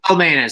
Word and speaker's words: Celmainis: It's Celmainis, soft C there. Sorry. Greetings from Canada. I don't know what gave it away, but... yeah, I'm Celmainis from Calgary, Alberta, Canada.